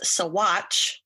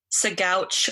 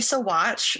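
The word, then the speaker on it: Saguache: of the town and it is actually pronounced as sawatch not sagouche or segoche like i was pronouncing it so it's so watch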